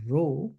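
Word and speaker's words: rho: by a parameter called row this is pronounced r h o it's a Greek letter looks like a p but it's actually pronounced R and in order to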